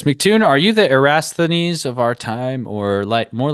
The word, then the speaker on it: Eratosthenes: He says, MCToon, are you the Eratosthenes of our time or more like a Newton? Eratosthenes? No, Eratosthenes.